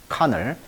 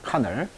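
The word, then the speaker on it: colonel: 카널, L이 묵음입니다. 카널.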